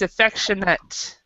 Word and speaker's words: affectionate: When there's an A at the end like this, sometimes it's nate, and other times it's ut. And with this word, it's affectionate. Affectionate.